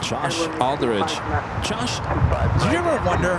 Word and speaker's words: Aldridge: And she had the same last name, and that's how I knew how to pronounce Aldridge correctly.